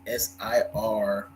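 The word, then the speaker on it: Cîroc: This Ciroc is spelled with a K. Ciroc? It's the last C is a K. Oh, it's a K, and that's okay. And it's an S, so it's SIROK.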